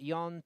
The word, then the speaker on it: Jon: John to some, but Jon to the pronunciation of his name in the Basque Country in North Spain there.